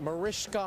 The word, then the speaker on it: Mariska: Mariska Hargitay is with us right now. It's spelled ska, but it said sha, if you ever see her out at a Cheesecake Factory near you.